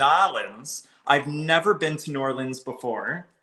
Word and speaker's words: New Orleans: I've never been to New Orleans before. Nolans. Nolans. You gotta say it right.